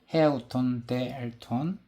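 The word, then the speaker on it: ἑαυτὸν δὲ ἐλθὼν: 돌이켜이 번역된 이 말씀은 헬러 원화에서는 자 요렇게 발음이 돼요에 헤 아우톤데 엘톤 아 돈이라고 됩니다 자 이것은 히브리어 어 관용로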